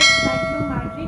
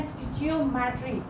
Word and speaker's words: stoichiometry: सबसे पहले अगर हम इस टॉपिक की प्रोनाउंसिएशन की बात करें तो कुछ लोग इसको अपनी आसानी के लिए पढ़ते हैं स्टिचियोमेट्री, लेकिन अगर हम इसकी करेक्ट प्रोनाउंसिएशन की बात करें तो इसकी करेक्ट प्रोनाउंसिएशन यही है कि हम इसको पढ़ते हैं स्टाइकियोमेट्री।